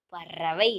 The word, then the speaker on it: பறவை: அப்போ நமக்கு இடையின ரா அடுத்தது கிளி ஒரு பறவை பறவை நம்ம நாக்க மடக்கி சொல்றோம் இல்லையா இது வந்து என்னது வல்லின ரா சரியா கண்ணா இப்படித்தான் நீங்க